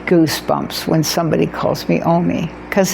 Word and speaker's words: Omi: The O isn't a problem in Spanish. The M-I, me, M-I is spelled me in Spanish, so O-M-I worked just great, which is so exciting